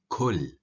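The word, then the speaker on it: كل: If the qu is pronounced as ku, it turns into kul, or eat. قل, say. Kul, eat.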